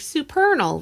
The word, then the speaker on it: Supernal: And be like, "Supernal. Rhymes with eternal."